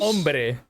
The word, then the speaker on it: hombre: Hombre. The H is silent.